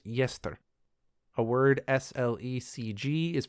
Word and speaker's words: Gjestr: GJESTR is pronounced Yester. So it kind of looks like the word jester with a G in front of it, but it's actually pronounced Yester.